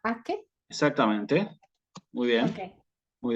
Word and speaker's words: pace: En el caso de Pache, Sí, sería, que es paz, en la pronunciación clásica sería Paque.